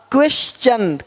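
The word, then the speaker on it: question: देख पा रहे हैं यदि किसी शब्द के अंत में एस के आगे टी आई ओ एन हो तो टी के आगे यू आर इ आए तो टी का उच्चारण च होता है। देखो यहां पे टी का क्या होगा? च क्वेश्चन क्वेश्चन अब क्वेश्चन नहीं बोलते क्वेश्चन नहीं क्वेश्चन क्वेश्चन देखो नेचर यहां पे नटूरे नहीं बोलते नटूरे नहीं नेचर है ना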